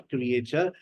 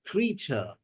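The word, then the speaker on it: creature: क्रिएचर, बट जब आप इसको जाकर डिक्शनरी में सुनते हैं तो आपको पता चलता है इट्स नॉट क्रिएचर, इट्स क्रीचर.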